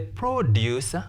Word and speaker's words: produce: was expensive to produce because this word is preceded by the article the it is a noun therefore we stress which syllable the first syllable was expensive to produce infinitive to precedes a verb therefore we stress the second syllable now write this sentence